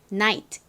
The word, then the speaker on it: night: night. T 발음 세게 하지 않고요. 살살 약하게 바람 빠지듯이 해주세요.